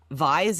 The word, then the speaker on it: Vyse: Is it Vyse or am I pronouncing that correctly, Kendra? Vyse is absolutely correct.